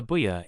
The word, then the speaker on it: Buya: Ednote: Buya here is pronounced as buoya. Certain versions of ramagi Japanese that's written phonetically in the English alphabet uses doubled vowels to indicate the Japanese au sounds. We don't use the bar vowels simply because doubled vowels